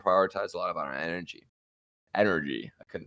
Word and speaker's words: NRG: fun up for this how do you say our opponent's name nrg so i mean i'm not gonna like correct you are you gonna say it has to be energy but i'm gonna correct